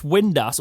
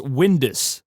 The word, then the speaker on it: Windass: However, that's not stopped them before because they've got the pronunciation pack and they still call Josh Windass Windus. Where's the U?